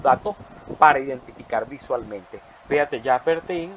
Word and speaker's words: Jacques Bertin: Si lo vamos a pronunciar como está escrito en español, porque el español lo permite, pero sería Jacques Bertin, porque la I es como entre una O, una cosa extraña en francés.